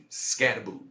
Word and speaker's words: Skattebo: That is how you say his last name. Skattobe. Skattebo.